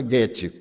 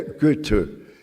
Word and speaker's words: Goethe: E existe Goethe, eu sabia pronunciar Goethe, antes eu pronunciava Goethe, mas eu tenho uma amiga suíça, e ela me disse, em alemão não tem os sons agudos, é Goethe.